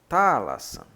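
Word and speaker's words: θάλασσαν: Então é como se eu pronunciasse Thalassan, como se fosse separando as sílabas.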